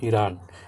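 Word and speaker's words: Iran: तो ईरानी पढ़ेंगे ना, ईरान की स्पेलिंग तो आई आर ए एन होती है, लेकिन इसको क्या पढ़ेंगे हम, तो ईरान पढ़ेंगे।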